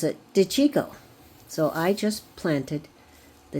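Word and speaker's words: De Cicco: I looked up how to pronounce this, but you pronounce it DeChico.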